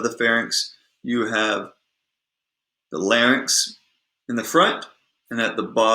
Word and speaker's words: larynx: And by the way, we say larynx and pharynx Okay, that is how it is produced. That's how it's pronounced. You don't say larynx and you don't say pharynx.